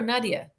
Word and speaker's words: Nadja: the funny thing is my name i'm from south africa but my name is not south african it's russian so beats me how to actually pronounce it because the way that i pronounce it is not how other people pronounce it oh it's not funny